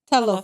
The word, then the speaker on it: Talofa: Talofa.